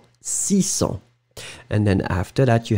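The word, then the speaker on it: six cents: So when you combine it with 6, remember that you won't pronounce the s in the end. 600.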